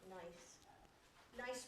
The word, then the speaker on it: gneiss: I've heard that the Germans pronounce the G, and I'm not sure about that. Gneiss? I don't know. But anyway, we in English, I guess we say nice.